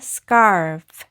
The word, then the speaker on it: scarf: 그리고 이 F는 F, 토끼이빨 해서 scarf, scarf로 발음하시면 되고요.